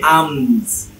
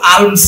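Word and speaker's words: alms: তারপরে কি আমস, এ এম এস, আমস, আমস বা আমস, কিন্তু আর্মস হবে না, আমস মানে সম্ভবত ভিক্ষা, মানে বেগিং, ভিক্ষা বিক্রি।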